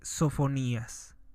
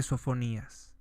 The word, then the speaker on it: Sofonías: con la introducción del libro de sofonías con acento en la i libro de sofonías Quién fue el profeta